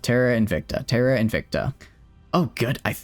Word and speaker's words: Terra Invicta: I don't Why am I saying Why am I adding that extra syllable in there? Is Invictica a word? It sounds like it would be a word. Terara Invicta. Terra Invicta.